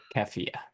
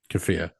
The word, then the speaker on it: keffiyeh: I don't want to be culturally insensitive, but I realize I don't know how to pronounce it. Keffiyeh. Keffiyeh.